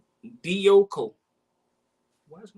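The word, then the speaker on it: διώκω: Dioko. You pronounced it right, bro.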